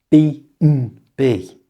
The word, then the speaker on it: B&B: To pronounce this correctly, change the and to just the letter m. So, it sounds like this. B n b.